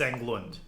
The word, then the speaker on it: Englund: yeah fritz england um it's not like england it's fritz englund i i don't know